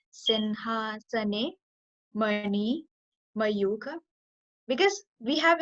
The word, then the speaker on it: सिंहासने: It's not Singha. It's Sinha. Sinhasane.